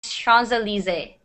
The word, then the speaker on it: Champs-Élysées: This is a French word. It's pronounced Champs-Élysées.